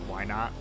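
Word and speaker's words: Wynaut: See, that was a pun, because there's a Pokemon called Why Not? Ah! Spelled W-Y-A... or W-Y-N-A-U-T. But, you know, pronounced like the words why not.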